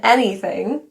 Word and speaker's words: anything: The a in anything is actually pronounced as e. Think of it like e.